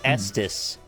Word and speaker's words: Estes: Maybe it's supposed to be like testes, like Estes rockets. Oh, it's like SD's rockets. Estes rocket. SD. Like I don't these pronounce it that way. rockets. It's Estes. Yeah.